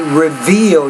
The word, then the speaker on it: reveal: Right, now here you want to say reveal. You got to pronounce that V with more vibration.